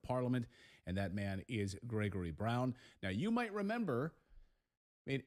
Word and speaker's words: Grzegorz Braun: Now, I should point out, I'm using the Western pronunciation of your first name. So to my Polish viewers, I apologize, but I tried for like 10 minutes. For your Polish viewers, my name is Grzegorz Braun.